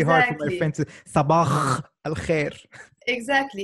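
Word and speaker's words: صباح الخير: So when you say sabah al khair, it's really hard for my friends to sabah al khair. Exactly. English speakers have a tendency to pronounce it as a kh.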